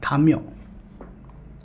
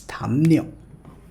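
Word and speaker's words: 담요: Next word, many beginner level learners will pronounce it like thamyo, but it's not thamyo, it's thamnyo.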